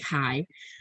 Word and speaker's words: chi: proportions instead and here you're using what's called chi square uh it's spelled chai but it's pronounced chi um chi square uh results but again we're